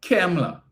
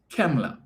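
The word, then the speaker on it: Kamala: sorry every time um Kemla not Camela right cuz if we had to go by the pronunciation as articulated by up north yesterday her name is not he don't like cam he likes chem so it's Kemla all right so let's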